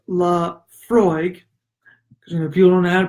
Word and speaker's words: Laphroaig: doing the way to do it eylem Laphroaig pronounced la Freud if you don't have to pronounce now if